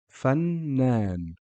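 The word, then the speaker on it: فنان: Fannan. You can hear the N sound or the Noon pronounced twice.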